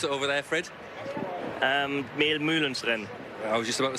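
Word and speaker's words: Mehl-Mülhens-Rennen: Or how do they pronounce it over there, Fred? Mehlmühlenrennen.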